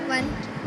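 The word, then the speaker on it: one: 1। कैसे? क्योंकि जब हम लिखने में ओ से प्रोनाउंस वो होता है, लेकिन अगर हम इसको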